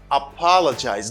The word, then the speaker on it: apologize: see the sound is apologize the stress is on the second syllable you say apologize apologize